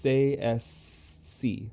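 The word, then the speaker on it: Tsaesci: like writing TS a e s c i pronounced CS C CSC okay CC okay well I can do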